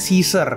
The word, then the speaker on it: Caesar: engak enak banget dibacanya tapi nih jadi tulisannya C A E Sar Caisar tapi kalau Inggris sebutannya caizer Oke lanjut di musim